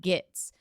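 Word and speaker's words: Gittes: Giddies. They say it both ways in the movies. They say it both ways. Oh, well, he intentionally, Noah Cross intentionally does that gits. And he says giddies.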